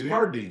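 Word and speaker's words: Jardin: Can you spell it? J-A-R-D-I-N. The J is silent, dummy.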